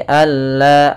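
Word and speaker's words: أَلَّا: idgham kamil yaitu nunnya hilang langsung kepada huruf lam sehingga tidak ada lagi terdana huruf nunnya alla langsung tapi jangan ditahan juga jangan all tidak tapi alla langsung pada lafal la sendiri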